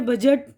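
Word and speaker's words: budget: seizures कैची अब यहां डी की आवाज साइलेंट है बजट यानी बजट ब्रिज पुल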